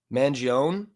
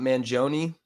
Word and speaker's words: Mangione: mean oh is that is that how you pronounce his name mangon it's not Manon yeah I guess that would be an I